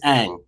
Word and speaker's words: Eang: and the last name is Eang.